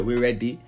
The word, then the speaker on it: Weredi: It's pronounced as it is spelled out right here, We Ready.